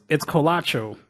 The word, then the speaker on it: Colacho: I'm still throwing a T in there, ain't right there. Like, I'm just gonna look that up real quick. How do you spell that one more time for me? COLA, like cola, CHO.